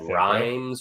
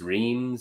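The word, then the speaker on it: Reims: now where's he playing uh rhymes reams yeah i don't know how do you say that one of those it's like leanne rimes owns the french league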